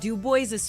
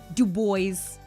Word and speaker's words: Dubois: They say it like the boys. Oh, Dubo is funny. Dub boys. No, Dubois is a very like French Canadian and French.